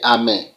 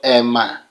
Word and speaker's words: Amen: are bound to say Amen but do you know the meaning how that word sounds let me pronounce it for you the word you are saying is not a it is called Emma Emma and the shorter one